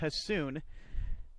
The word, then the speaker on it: Hassuun: On the mound, as I mentioned, for Salem is Brett Hassoun, spelled Hassuun, but pronounced Hassoun.